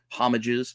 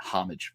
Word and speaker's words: homage: I know there's one proper way to pronounce it, but since I was going back to being a kid, I always said homage. But I know it's homage, but that's it.